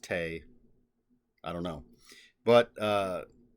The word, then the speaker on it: Te: I just checked I always thought it was day because Dao t-a-o is Dao uh but according to what I looked up online they said it's pronounced Tay I don't know but uh apparently means virtue